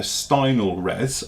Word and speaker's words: Stynylrez: it is its spy I know everyone's gonna pronounce this differently but I would do it a Steindl res okay it's by bad